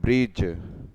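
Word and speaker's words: bridge: उसको ब्रिज बोलते हैं बी आर आई बी यहां पर दी साइलेंट है जी आई जे ब्रिज का स्पेलिंग क्या है तो जो बोलना है ब्रिज ब्रिज और नदी को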